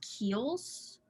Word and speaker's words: Kiehl's: so i use this i believe it's pronounced keels k-i-e-h-l-s and it's a cleansing